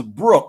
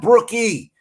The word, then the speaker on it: Brooke: The E is silent. It ain't Clarky. It's Clark, and it's Brooke. The other lady name is Brooke. It's not Brookie.